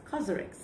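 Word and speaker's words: COSRX: to actually pronounce that thing properly it's actually pronounced as karx so if you guys didn't know I have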